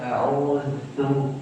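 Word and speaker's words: أعوذ: auu auu auu au jangan terlalu berat auzu ditekan dulu znya baru dilepas auudu auu masih terus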